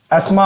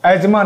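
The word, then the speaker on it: asthma: pronunciation एस्मा होता है, एजमा नहीं होता, अस्थमेटिक नहीं होता, एस्मेटिक होता है, टी एच साइलेंट रहता है, ये पहली बार बता रहा हूँ, ये टी एच इसमें साइलेंट है, बाकी आप वायलेंट मत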